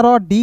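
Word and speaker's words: road: अब देखिए यहां पे समझिएगा दोस्तों याद रखिएगा जब दो वोवेल ओ और ए एक साथ दोस्तों रहते हैं ना एक साथ ठीक है जी तो ए ओ का उच्चारण करते हैं ए का उच्चारण नहीं करते हैं तो आर का र डी का ड ओ का उच्चारण ओ के रूप में रोड बताइए ना यार एक-एक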